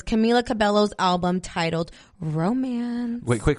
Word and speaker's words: Cabello: I guess, yeah, in Spanish it's cabello, but here in the U.S. they call her, I always hear Camila Cabello. Like, I always hear that.